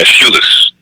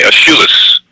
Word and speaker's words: Aeschylus: the interpretation of a Greek trilogy written by Aeschylus. The name of the trilogy is called the Orestia. The Orestia. It's spelled O-R-E-S-T-E-I-A. It's written by Aeschylus, or Aeschylus.